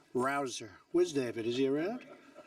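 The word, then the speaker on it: Rouzer: Rosa hey you know how you pronounce it rabble rouser you go David rouser where's David is he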